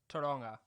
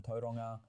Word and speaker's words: Tauranga: How do you pronounce that? Tauranga.